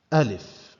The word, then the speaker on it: Aleph: this is a leaf it's pronounced Aleph when you are going to refer to this letter say L as a letter in isolation fine what is the